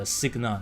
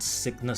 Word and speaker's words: Cygna: Yeah, Cygna, not Cygnus, Cygna.